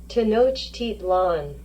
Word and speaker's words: Tenochtitlan: give you an audio recording on how to pronounce the word. So let's listen to this. Tenochtitlan.